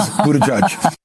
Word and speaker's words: Buttigieg: Young people want You're talking about Poot Buttigieg? Yeah, Poot Buttigieg, yes. I'm not trying to pronounce the name. It is Buttigieg.